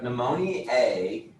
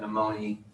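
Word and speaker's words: pneumoniae: strep especially with strep pneumonia a and i always say it with the a so that i remember to spell it with an ae and some of you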